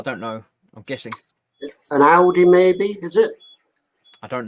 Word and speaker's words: Audi: audi they all say woody and i mean a german person has actually said to me no it's audi it is it is pronounced how even german people pronounce it audi um but yeah everyone